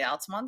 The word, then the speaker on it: Altamonte: and drove up to Altamonte which is really alamon Springs it's about 20 minutes